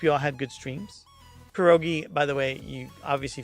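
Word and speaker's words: pierogi: everybody it was a quadruple raid perogi dumplings perogi that's how you say it of course it's perogi I'm dumb um Bosch tunic stuf thanks for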